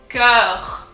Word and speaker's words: cœur: It's pronounced E, cœur. And then the R, like since it's the last letter of the word, there's this massive emphasis on the R and it needs to come from really, really deep down, like you're super, super upset.